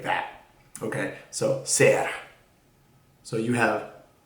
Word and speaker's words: ser: little better so yeah that's how you say it s e r ser which means to be